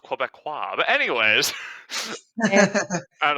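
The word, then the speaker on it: Québécois: First it's pronounced Quebecois.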